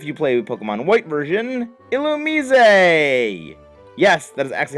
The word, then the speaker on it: Illumise: Next is, if you play Pokemon White version, Illumise! Yes, that is actually how the name is pronounced.